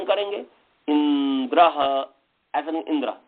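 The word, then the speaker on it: इन्द्र: से उसका उच्चारण करेंगे इंद्र ऐसा इंद्र ्र इंद्र नहीं कहेंगे इंद्र नहीं कहेंगे इंद्र ई पर जोड़ पड़ेगा अश्व अ पर जोड़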